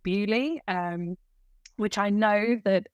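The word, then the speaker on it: Beaulieu: can manage my spoons as the common phrase but we'll use it so we went out a couple of weekends ago to a place called bu um which I know that an American is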